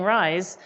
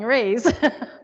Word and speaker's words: Reyes: So it's actually Reyes. So my dad actually mispronounces it on purpose by saying rise. And I say Reyes because that's how it was always said when I was, so I should probably actually be saying it Reyes, but I'm so used to saying Reyes.